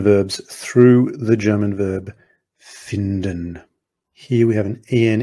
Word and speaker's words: finden: to find, but has a slightly different pronunciation. It's not finden, it's finden.